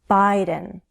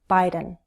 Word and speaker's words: Biden: Biden, with a long I, Biden.